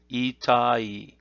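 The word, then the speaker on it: 痛い: The Japanese reading is itai, and the parentheses there indicate that ending may change depending on usage.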